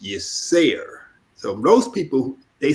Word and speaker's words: Yirser: pronounced Yisser. Yes, Okay. Sarah. Okay. Yeah, Okay. and so people confuse it. They think it's the Arabic or Hebrew, Hebraic pronunciation of a word, but it's actually the Kemetic pronunciation.